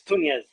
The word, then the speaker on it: Tunez: It's Tunez. You can pronounce it however you want. Tunez. Okay. How did I do? Tunez? You did good. Yeah, it's like Nunez but with a T instead of Okay.